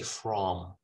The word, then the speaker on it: from: words these function words if they are at the end of a sentence at the end of a sentence you will use the strong pronunciation so for example when